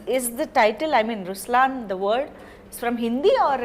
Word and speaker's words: Ruslaan: so even in raslan when you say raslan also means the lion it's the attitude of but right pronunciation is Ruslan oh okay yeah there